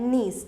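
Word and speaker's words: gneiss: शिस्ट से क्या बन जाता है, नीस, ठीक है, इसकी प्रोनाउंसिएशन ध्यान रखिएगा, इसको नीस बोलते हैं।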